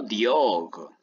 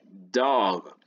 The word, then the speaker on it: dog: Aquí es dog, no diog, es dog.